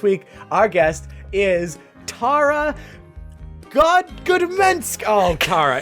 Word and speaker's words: Gadomski: Hello, it's Gadomski, and don't worry, I've spent my entire life with people struggling to say it. And funny enough, it sounds exactly how it's spelled, Gadomski, Gadomski, but the most common mispronunciation of it is people reverse the vowels and call me Tara Gadomski.